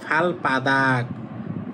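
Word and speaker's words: 발바닥: ফাদাক মানে হচ্ছে তলা তাহলে এই যখন একসাথে উচ্চারণ করবেন তখন এযে বিউটা উচ্চারণ করবেন সাংবিউ তাহলে হবে ফাল পাদাক ফাল পাদাক মানে পায়ের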